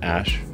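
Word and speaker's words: Æ: X um and then the AE is like pronounced Ash yeah and then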